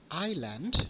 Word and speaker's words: island: Letter S sometimes can be silent, like easel, not eisel, island, not island, debris, not debris.